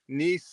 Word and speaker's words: Nisei: they'd been there lots of times and couldn't pronounce the bar's name so don't be that guy visitors from the podcast world niss Lounge niss yeah when when people are like oh Ness I'm like it's not Nestle Quick it's okay